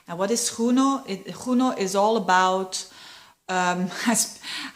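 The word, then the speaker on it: Juno: what is huno it huno is all about um I pronounce it like like Spanish because I've Been to Spain um it it is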